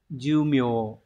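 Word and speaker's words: 寿命: thuộc rồi đúng không Thọ mệnh sẽ đọc là jum jum chúng ta chọn phương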